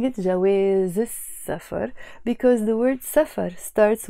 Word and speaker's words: السفر: them, which means the, we don't pronounce the L that is there.